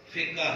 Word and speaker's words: فقہ: لفظ ہوتا ہے فقہ، فقہ حنفی، فقہ شافی، فقہ مالکی۔ تو صحیح تلفظ کیا ہے؟ فقہ، اور عام بولی میں فقہ اس کو کہتے ہیں۔ یہ فقہ کیا چیز ہے؟